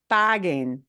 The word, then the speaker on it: paguen: Paguen, paguen, G-U-E, the U serves a certain function. The U goes silent.